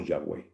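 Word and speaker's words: Yahweh: eso nos da identidad curiosamente el nombre de Dios no se puede pronunciar en hebreo porque no tiene vocales es yh w o w le agregaron e o a para que sonara Jehová O a e para que sonara yah o yahwe por qué no tiene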